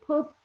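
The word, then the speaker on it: Kpop: name they call him his title is pop kagoma but pope is not spelled p-o-p-e it's spelled k-p-o-p so it's the place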